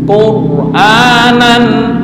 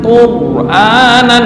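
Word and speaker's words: قُرْآنًا: ini wajib dibaca tafkhim wau ja'alnahu qu quranan quranan bukan Quran enggak quranan Aam silakan Wal Qur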